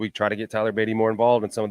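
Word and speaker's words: Tyler Badie: need to call him Tyler bedet on the show today I'm pretty sure that's not how it's pronounced but they did make it a little French out there yeah what was that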